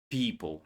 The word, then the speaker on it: people: People, right?